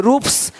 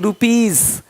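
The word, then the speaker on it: rupees: जैसे कि यहाँ पे रूप्स, यहाँ जा साउंड नहीं आएगा, लेकिन यहाँ पे एक्स नहीं एग्स। हीरोज, हीरोस नहीं, देख रहे हो, रुपीस नहीं रुपीज, ज का साउंड आ रहा है हल्का सा।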